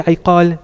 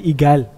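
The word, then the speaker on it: عقال: If you ask them, they won't say iqal, they'll say igal. But that's just because of how they're pronouncing the word. But it's actually called the iqal.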